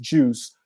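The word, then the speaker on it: Guice: so we use the juice library and it's spelled with the g but it's pronounced juice we use the juice library to to sort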